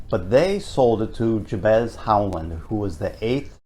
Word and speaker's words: Jabez: I grew up here in Plymouth and pronounced it JB's corner. Sure. I started working here, and they said we pronounce it Jabez.